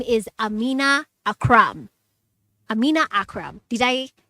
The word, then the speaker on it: Amina Akram: ready to talk to her her name is Amina Akram Amina Akram did I pronounce it yes you did yes you did